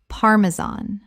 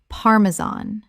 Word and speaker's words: Parmesan: Parmesan. Correct pronunciation. Parmesan. The stress is on the first syllable. And the final -an sounds like the word tan.